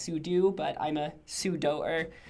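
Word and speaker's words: sudo: be very clear that I intentionally pronounce it super user doe the instead of super user do even though I think technically it's pronounced su do but I'm a pseudo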